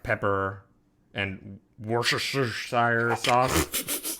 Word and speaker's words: Worcestershire: some like pepper and Worcestershire sauce. How do you say that word? Isn't it Worcestershire? Sure. Yeah, Worcestershire. It's just, I feel like it has more letters than that.